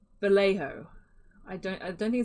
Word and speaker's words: Vallejo: but i think it's vallejo i don't i don't think it's valencia don't like that one i think it's vallejo because i think it is like maybe spanish made in spain vallejo